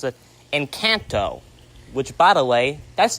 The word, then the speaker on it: Encanto: Encanto, or as my mom wants to pronounce it, Encanto.